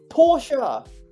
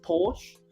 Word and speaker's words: Porsche: So many people think it's pronounced Porsche, but all of the posh people who own Porsche, who own Porsches will let you know, hey, it's actually pronounced Porsche.